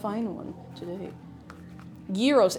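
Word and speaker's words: gyros: Yuros. It's G. It's spelled. I know it sounds fake. G Y R O S.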